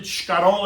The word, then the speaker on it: escarole: It's escarole and bean soup. Now, if you grew up in a Southern Italian household, we really pronounce it scarole and beans, right?